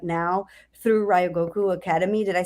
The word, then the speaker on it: Ryogoku: So I want to move into what the work you're doing right now through Ryogoku Academy.